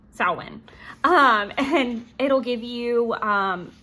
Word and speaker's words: Samhain: Then it will, and I love pronunciation, sow, like female pig, win. Samhain.